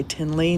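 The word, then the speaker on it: Thinley: And The White Sail by Tinley Norbu. And it looks like it's spelled like thin, like fat or skinny, thick or thin, thinly, but it's pronounced Tinley Norbu.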